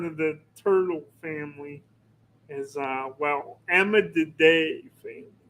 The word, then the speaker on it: Emydidae: part of the turtle family is Emididae family. Emididae? I think that's how you Spell it. pronounce it. It's Emydidae.